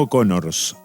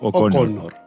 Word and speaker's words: O'Connor: pronunciado flanery o conor flanery no no O conors sino ooc conor conor perfecto con elao un cuento